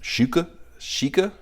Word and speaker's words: XIKE: I guess they're pronounced Shika, which turns out that means rare customer in Chinese or Mandarin.